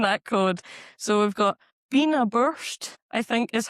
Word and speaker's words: Beinn a' Bhùird: So, we've got Beinn a' Bhuird, I think is how you pronounce it, which is a mountain in the Cairngorms.